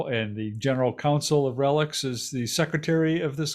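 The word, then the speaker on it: RELX: or its parent relax do they say relax how do they pronounce that relics relics okay relics uh or its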